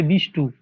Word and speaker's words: বিষ্ণু: দেখবে আমরা অনেকের নাম পাড়াগ্রামে বিষ্ণু হয়। অনেকের নাম বিষ্ণু হয়। কিন্তু তাকে কেউ বিষ্ণু বলে ডাকে না। তাকে কি বলে ডাকে? বলে বিষ্টু। এই এই যে তৎসম শব্দটাকে আমরা বিকৃতভাবে উচ্চারণ করছি।